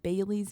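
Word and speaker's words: Baylie: I know, but it's spelled B A Y L I E. like a bae and then Lee.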